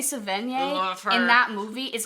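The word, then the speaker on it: Sevigny: we're talking about zodiac do you know how to say her name chloe savage it's chloe savin yeah and that movie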